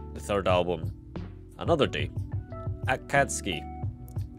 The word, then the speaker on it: Akatsuki: Akatsuki. I can never pronounce it correctly. Akatsuki. That is straight up an S.